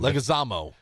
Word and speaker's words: Leguizamo: John Leguizamo? How do you say that? I don't know how to say his last name. Leguizamo.